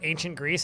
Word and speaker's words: Ancientgrease: So, this fortress is called ancient Greece, but it's spelled like motor oil, like greasing something. So in this it's intended as not Greece as in Greek.